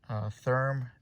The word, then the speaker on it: Thyrm: So this is from a company called, you see that, Therm, THYRM, I believe is how you pronounce it.